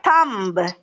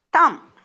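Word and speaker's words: thumb: next one எஸ் தம்ச யூ எம் பி நாட் தம் இட்ஸ் தம் பி சத்தம் வராது தம் தட்ஸ்ைசி எல் ஐ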